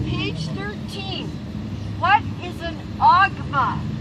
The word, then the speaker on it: OGMA: On page 13, what is an OGMA? O-G-M-A. It's pronounced OGMA.